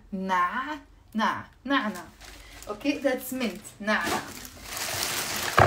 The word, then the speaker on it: نعنع: جيمس is asking me شو يعني منت يعني نعنع نع هو عين ن اي ع نع نع نعنع اوكي ذاتس منت نعنع اوف بعد في